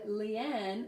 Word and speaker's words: Leanne: So Leanne, Lee, you can hear Lee, long vowel E, and then Anne, oh, hang on, sorry.